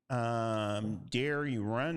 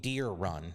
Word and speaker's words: Deere Run: It's supposed to be it's TPC Deere Run. Deere Run. So John Deere Run.